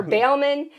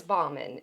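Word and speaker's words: Balmain: Yeah, she was talking about her Louboutins and her Bailman. It was Bauman and Christian Louboutin.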